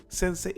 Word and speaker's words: Sense8: original I'm talking about sensate or Sade they say it like sensei sense8 or whatever sense 8 it's a